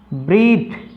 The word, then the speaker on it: breath: इसी प्रकार से तीसरा वर्ड देखें, ब्रीथ, BREATH, किसी वर्ड के अंत में TH आता है और वो जो वर्ड है एक नाउन है होता है तो उसका TH का उच्चारण थे होता है।